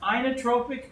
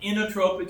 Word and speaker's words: inotropic: Now, it's pronounced inotropic in some books and inotropic in others.